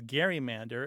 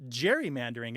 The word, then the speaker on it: gerrymander: the ways that we know that it was pronounced as Gary Mander is because a few places in the printed